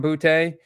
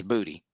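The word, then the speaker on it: Boutte: So like my my deep cut play of the week is uh Kahan Bouty. Uh it is pronounced bouty, right? Not booty. It's booty.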